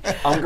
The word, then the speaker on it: Unger: Unger rhymes with younger.